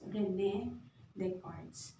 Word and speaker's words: René Descartes: is none other than René Descartes. Okay? So, yung spelling ng name niya, hindi siya yung ayon sa pronunciation niya.